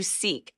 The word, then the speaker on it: SEEC: To seek kindness in your first in yourself and then others. Seek is self-image, emotional awareness, empathy, and community. And it's spelled with SEEC, Yeah. not K. Yeah.